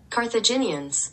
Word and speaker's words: Carthaginians: Carthaginians pronunciation. Carthaginians.